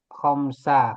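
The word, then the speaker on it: خمسةً: Jadi kalau tadi kan khamsu ya. Sekarang dibacanya khomsa karena menjadi objek.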